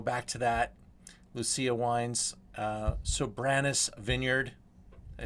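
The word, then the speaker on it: Soberanes: Lucia Wines, Sobranus Vineyard. Did I say that okay, Mark? Did I hit it right? Sobranus Vineyard, correct. It's an old Spanish land grant. And your pronunciation's getting right on.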